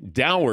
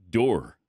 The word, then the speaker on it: dour: the end of last hour we had been pronouncing Dow incorrectly at least possibility the possibility of that